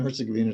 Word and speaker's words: Herzegovina: That's the way it's pronounced. Bosnia and Herzegovina.